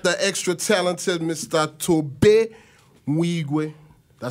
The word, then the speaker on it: Nwigwe: Tobe Mwigwe. Did I say that right? Yeah, no doubt. Unless you want to pronounce it like my Caucasian counterparts who say Nwigwe. Nwigwe. Either way, it works.